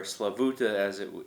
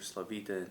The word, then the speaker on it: Slavuta: The town is called known as Slavita or Slavuta as it was pronounced by the Ukrainians, or Slavita in the Jewish Yiddish pronunciation.